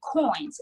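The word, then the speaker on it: Qoins: Another app, while I'm thinking about it, that we really want to bring attention to as well is Coins, and it's spelled Quoins.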